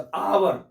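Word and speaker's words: hour: यहाँ बोले देखिए आवर, एच क्या है इसमें, साइलेंट है, तो आवर।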